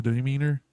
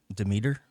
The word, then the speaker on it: Demeter: The final voyage of the demeanor. Demeter.